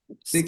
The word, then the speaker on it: steak: Nah, steak nggak bisa dimakan ya. Yang bisa dimakan adalah steak. Steak. Steak. Jadi harus ada diphthongnya.